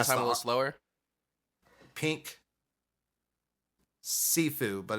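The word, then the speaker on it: Siifu: um it's mean by Pink sifu you mean slash hold me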